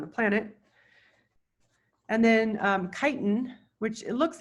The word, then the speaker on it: chitin: planet and then um chitin which it looks like chitin but it's it's like chi if you've ever been in a fraternity they spell chi is